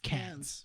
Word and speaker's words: Cannes: No, I want to know how it's spelled. How's Cannes? CANNIS? Yes. No. ES. Yes. So Say- Cannes? see- yeah, it's Cans.